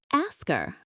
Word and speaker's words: ask her: The H often disappears. The K sound at the end of ask moves over. It sounds like asker. Let me demonstrate that. Instead of ask her, it becomes asker, like a person who asks questions.